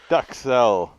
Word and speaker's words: Duxelles: Duxelles. But Duxelles. it's pronounced duxelle. But you can call it a duxelle.